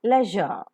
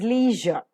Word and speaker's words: leisure: L-E-I-S-U-R-E, leisure. The typical Indian pronunciation is leisure, but the RP pronunciation is leisure.